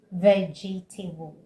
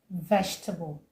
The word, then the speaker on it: vegetable: Some people say vegetable, but the right way to say it is vegetable.